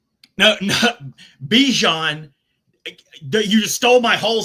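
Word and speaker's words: Bijan: How you pronounce my name is Bjon for everybody that's that's out there. Um, I know a lot of people say Bjon, but it's Bjon. Yeah. Bjon like Bjon mustard.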